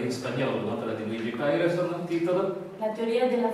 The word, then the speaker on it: Pareyson: La dottoressa Coriasso ha tradotto Luigi Paireson, o Paireson, perché pare che questa sia la pronuncia esatta, trattandosi di un nostro